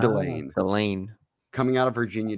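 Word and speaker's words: Delane: get a uh firm a confirmation on how we pronounce his name it's Delan so manord delain delain coming out of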